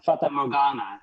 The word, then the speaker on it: Fata Morgana: How do you pronounce that? Yeah, Fata Morgana is how Okay.